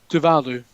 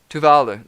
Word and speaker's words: Tuvalu: Because I butchered it. Tuvalu. Tuvalu.